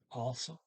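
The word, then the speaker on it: også: will or what also also it's o g s a circle now the g is not pronounced so it comes out also chapa to shop um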